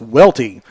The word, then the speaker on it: Welty: I did mispronounce the starting pitcher for Rowan County. It's Welty, Wyatt Welty, and he is 1-0 in on the season.